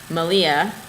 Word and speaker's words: Malia: Then, Malia of the Yarn Raising podcast, Rhymes with Maria, is doing a spin-along